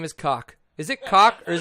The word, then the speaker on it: Koch: Tell him that Mark Weeks told me it was Cock. Ask Zach how he feels about Wow, he said it's Cook. Why would you pronounce Koch as Cook?